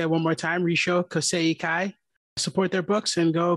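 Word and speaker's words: Rissho Kosei-kai: I'm going to have Elliot pronounce it because I butchered it when I was trying to explain it to him. Go for it, buddy. Risho Kaseikai.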